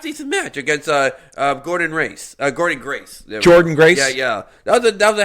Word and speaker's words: Jordynne: I don't know how you pronounce JORDYNNE. Jordan. That's Jordan? Yeah.